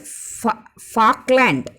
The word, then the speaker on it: Falkland: South Atlantic Ocean, cold Falkland, Falk. L is not pronounced. Falk, Falkland current and warm Brazil current.